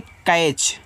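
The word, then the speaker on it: catch: सी ए टी सी एच इसको पढ़ते हैं कैच। तो सी से आपका का यहां ए का उच्चारण एक की मानता है क्रम टी साइलेंट रहेगा सी एस से आपका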